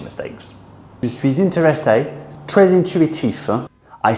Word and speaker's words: intuitif: These two words actually start off with the un sound. Intéressant, intéressant, and intuitif. Intuitif.